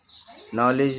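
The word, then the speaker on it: knowledge: इनमें नॉलेज में नॉलेज पढ़ा जाता है लेकिन लिखा जाता है के साइलेंट रहता है उसमें।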